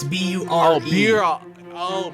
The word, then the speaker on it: Bure: Oh, beer. Oh, Burr. And it's pronounced Pavel Bure.